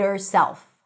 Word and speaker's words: herself: So the V of the word of, yes, it's a V, not an F, becomes the beginning of the word herself when you drop the H.